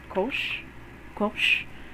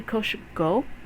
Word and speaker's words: Koshko: So you pronounce it with kosh, which is written like this. Kosh, kosh, and then go. Koshko. And you won't say koshgo. Koshgo. It's koshgo. And that's signified by the soft O here.